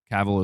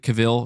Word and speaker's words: Cavill: what I was trying to say earlier my pronunciation of caval is funny what is it Caville is that how you say it Henry Caville